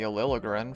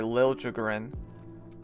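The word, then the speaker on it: Liljegren: Uh, the Capitals acquired Timothy Aliligrin from the Sharks or sorry, Lilligrin, that's how you say it.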